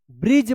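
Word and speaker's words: bridge: यह भी साइलेंट रहता है। तो बी आर आई डी जी ई ब्रिज पढ़ेंगे।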